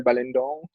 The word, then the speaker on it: Balindong: It's weird because it's the lin is supposed to be the pronounced syllable, like balindong, not balindong.